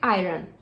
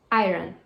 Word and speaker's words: iron: Ela escreve assim e as pessoas pronunciam iron. Iron. Como se fosse I, de eu, e run, de correr. Iron. Iron. Mas não é assim que se fala. A pronúncia certa dessa palavra é iron. Iron. Iron. Não é iron. É iron.